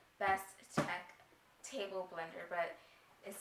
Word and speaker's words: BSTEK: It is called, it's spelled BSTEK, so Best Tech Table Blender, but it says it's a table blender, but the thing is so huge.